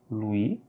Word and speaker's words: Louis: Louis, S, on ne le prononce pas.